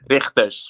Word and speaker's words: Rigters: Richters, but you can. The G is hard for you.